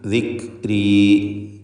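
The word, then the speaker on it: ذكري: ദിക്, ദിക്രി, ദിക് എന്ന ശബ്ദത്തിന് ചലനം വരരുത്. എന്നാൽ തീരെ കേൾക്കാതെ ദിക്രി, ദിക്രി എന്നും പറയരുത്. ദിക്രി, ദിക്രി.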